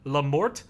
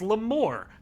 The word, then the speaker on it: Lamort: There's a guy on Phoenix Rising Citrine, Lamort. I thought it was Lamore because I thought it was French.